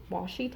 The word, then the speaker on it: washi: things that you can use this is wash washi tape is that how you say it yes